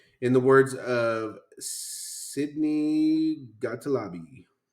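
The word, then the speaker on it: Gottlieb: not fight back in the words of Sydney gotal Lobby yep that's your name now Sydney you change it you start pronouncing it like that son of a gotal Lobby and it's G TT l i EB for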